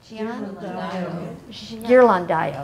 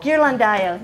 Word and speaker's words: Ghirlandaio: I don't know how to pronounce his last name. Does anybody? Ghirlandaio. There you go. Ghirlandaio.